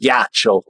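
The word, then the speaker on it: ghiaccio: ghi cciio but it's it's spelled yeah it's pronounced gacho and uh they will be surprised but they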